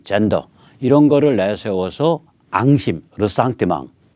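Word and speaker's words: ressentiment: 반면에 반미, 반일, 종중, 친북, 햇볕, 민족, 평화, 페미, 젠더 이런 거를 내세워서 앙심, 르상티망 불어 발음하면 더 멋져요. 르상티망 영어로는 리젠트먼트죠.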